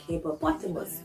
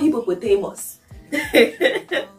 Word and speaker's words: hippopotamus: somewhere very very shocking like hippopotamus it is not hypopotamus as the typical ghanaian will say cucumber not combo so